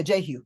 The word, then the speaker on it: Jehu: Am I pronouncing that right? I think it's, yeah, Jehu.